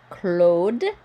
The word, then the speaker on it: Claude: This AU is O. Claude. You hear the D because of the E, but you don't pronounce the E.